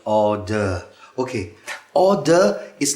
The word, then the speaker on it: hors d'oeuvre: It's kind of a horse derby. Well, it's a French word. It means outside the work. You mean hors d'oeuvre? Yeah? Can never pronounce that word. Hors d'oeuvre. Order.